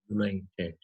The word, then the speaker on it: united: with oval u but the sound is consonant y sound united when you pronounce the